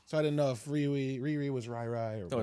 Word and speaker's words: Riri: Is it Riri or Rai Williams? I think it's Riri.